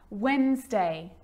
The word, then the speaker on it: Wednesday: Yep, it can be silent too. Wednesday.